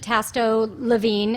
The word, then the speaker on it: Tasto-Levine: Okay, so again, my name is Tasto-Levine is how we pronounce it. It's one of those last names that is a little bit difficult to pronounce.